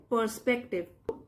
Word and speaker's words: perspective: Inspired by his teachers words, Aryan decided to analyse his project with a fresh perspective, R silent है, perspective, inspired प्रेरित होकर, by द्वारा, his teachers words।